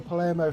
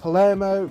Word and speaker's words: Palermo: right way to say it, but it's actually pronounced Palermo. So I apologise to all the Palermo fans out there.